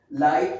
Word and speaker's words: light: After I, GH is silent, okay. I mean these both letters are silent. Like Brighton, you see it is the middle of the word, okay. Light, again it is okay,